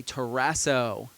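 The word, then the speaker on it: ταράσσω: the Greek word is the word teraso say teraso kind of rhymes with Ted lasso uh and teraso means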